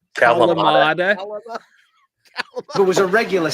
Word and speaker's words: Kalamata: I like the Kalama olives and the what olives? My wife makes fun of me. The Kalalama olives. Kalamata.